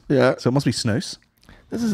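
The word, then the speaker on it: snus: S-N-U-S, pronounced snooze, as in goose. Yeah. So it must be snooze.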